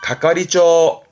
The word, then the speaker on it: 係: 맞는 개가 있잖아요 그 개의 장을 말하는 거니까 발음은 가가리죠 가가리죠 요거 때문에 언급을 했습니다 우리말은 개장이 해서